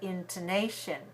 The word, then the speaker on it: intonation: I say the word intonation intonation has four syllables intonation intonation is stressed on the third syllable in two nation now in the word